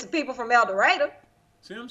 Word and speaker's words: El Dorado: again the question is is it El Dorado or El Dorado his actual pronunciation is El Dorado if you are if